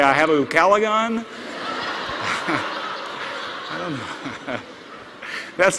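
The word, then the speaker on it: ucalegon: a favorite word in English yes it is UK calagon it's spelled u c a l e g o n UK calagon it means a neighbor whose house is on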